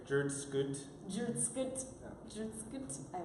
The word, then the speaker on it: jrdsctt: I want to say it the way, how do you say it without vocals? Or without vowels? It'd be just like jrdsctt.